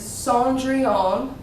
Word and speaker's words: Cendrillon: Like I said, this one right here is Cendrillon. I know it's not pronounced how it really looks.